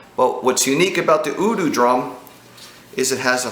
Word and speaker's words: Udu: It's called an Udu drum, and it's spelled U-D-U, Udu.